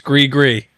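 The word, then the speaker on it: Gris-Gris: It's gri gree gri gree. You were right. The s is silent cuz it's that uh that Louisiana creole.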